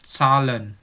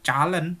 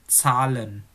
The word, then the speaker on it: Zahlen: Angka itu dilafalkan Zahlen, bukan Calen, bukan Salen, tapi Zahlen. Oke?